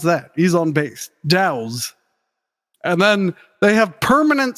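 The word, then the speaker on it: Dauz: Shona, co-lead vocals, and D-A-U-Z, how would you pronounce that? He's on bass. Dow's.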